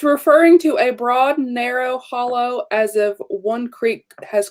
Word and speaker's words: Holle: Or like Well, that's how I spell it, but it's actually pronounced hollow.